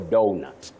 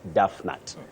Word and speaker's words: donut: say Do not Duff if you say Duff then you might end up saying duut for donut so your word is do and that is why we talk of donut not Duff and not Duff nut I hope you get